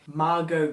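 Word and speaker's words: Margot: i think i learnt her name how to pronounce her first name margo kidder that's that's it now this is the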